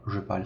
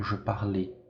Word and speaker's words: je parle: Petite observation, la finale n'est pas prononcée. Então, o final aqui não é pronunciado, tá? O E aqui ele é mudo, não é je parlais, e sim je parle.